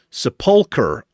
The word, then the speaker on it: Sepulcher: You seem like a fun player, but please, it's pronounced Sepulcher. Sepulcher.